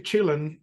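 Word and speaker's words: Chillen: there's a song called Boogie Chillin which is Boogie children but because uh apparently J hook pronounced that word when he was young he used to say chilling something like chill CH instead of children so the song is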